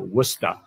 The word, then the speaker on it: Worcester: Dix, in Worcester, or Worcester, as we're supposed to pronounce it here.